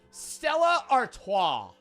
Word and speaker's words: Stella Artois: Stella Artois. Stella. That's how you pronounce it.